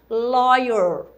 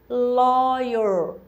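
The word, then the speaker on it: lawyer: uma advogada então advogada advogado em inglês loyer I love you repeat it After me apita depois de mim lóio olha como é que se escreve lóio que é advogado o advogado então when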